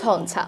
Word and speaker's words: ঝঞ্ঝা: ঝঞ্ঝা, your সাথে যখন ছ যুক্ত হয়েছে সেই ক্ষেত্রেও কিন্তু ইওটা হয়ে গিয়েছে কি নয়ের মতো, তাই হয়ে গেছে উচ্চারণ ঝঞ্ঝা।